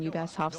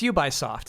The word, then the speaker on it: Ubisoft: That was Ubisoft. It was like it was barely an error, chat. That was a misprononunciation. That wasn't like this is how you say it in Japanese.